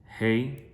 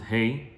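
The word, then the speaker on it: ה: Ashkenazim pronounce it hey. But it should, all of us, Sfaradim say he, but we should also, it's also a letter of breathing.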